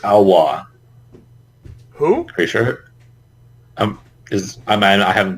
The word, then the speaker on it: Alois: I'm pretty sure it's Alwa. Who? Pretty sure. I haven't been listening to anyone's names with voice acting, so. Oh, his name? His name is pronounced Aloise.